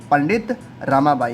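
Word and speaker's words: पंडिता रमाबाई: लेकिन इनका फ़ोटो है पंडित रामाबाई का। इनका भी नाम आप लोग याद रखेंगे। क्या नाम है इनका? पंडित रामाबाई। इनको पंडिता नहीं कहा जाता है, इंग्लिश में जब पढ़ेंगे तो ए साइलेंट रहता है।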